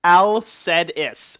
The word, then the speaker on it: Alcedis: He says his name is Alcedis. Alcedis. I almost said it right then, but I'll say it again anyway.